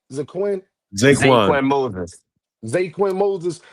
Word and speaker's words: Zaquan: Zaquan. That's how you say his name? Zaquin?